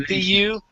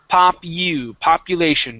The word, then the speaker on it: population: So we're looking at Population. the U here instead of papu. It's population. Try that.